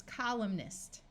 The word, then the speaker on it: columnist: Here we have column with a silent N, and when we add the suffix ist, it becomes columnist.